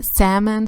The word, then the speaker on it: salmon: I guess it's like a bit of salmon, sorry, the L is silent for some reason, color, which is beautiful.